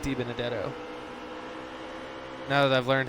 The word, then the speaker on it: DiBenedetto: too much action already DiBenedetto I do like DiBenedetto now that I've learned how to say his name I used to call him deep in debt oh and I got corrected and now deep in a debt Oh sounds right and I can't ever imagine